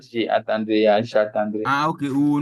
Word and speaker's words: J'attendrai: jetandre J'attendrai, jetandre but not j'attendrai. Yeah, j'attendrai. okay we will not the I will not be pronounced. The A will be pronounced, but I mean that the E will go.